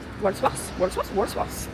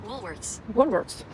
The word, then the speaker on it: Woolworths: Pareil, il faudrait que je sache comment ça s'écrit, comment ça se prononce. Walsworth. Attends, je regarde. W-O-O-L-W-O-L-T. Walsworth. Comment ça se dit? Woolworths.